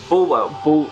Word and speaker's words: Bulwell: Bulwell. Bulwell. As you would pronounce if you actually came from there, yeah.